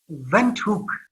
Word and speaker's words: Windhoek: I'm absolutely delighted to have you in here today from, how do you pronounce the capital of Namibia? Windhoek.